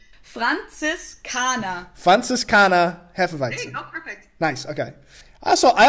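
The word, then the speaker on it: Franziskaner: say it how do you say Frances kana fun sis kana Hefeweizen nice okay also I also like how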